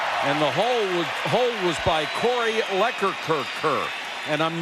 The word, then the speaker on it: Corey: And the hold was by Corey Leckerkerker.